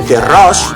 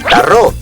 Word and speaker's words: torró: A l'alacantí, en el bressol del torró, li diuen terró. A les comarques del nord prefereixen menjar tarró, mentre que la resta de valencians el que comprem a Nadal és torró.